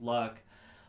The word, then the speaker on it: Lugh: luck which is an L ugh which is pronounced luck was said to be a Sun God patron